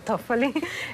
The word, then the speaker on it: Toffoli: Que tú me dirás cómo se pronuncia, Toffoli. Toffoli, que atacar el poder judicial es atacar la democracia.